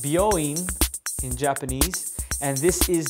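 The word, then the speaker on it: 病院: then this line here there you go it's pronounced booin in Japanese and this is the Kani for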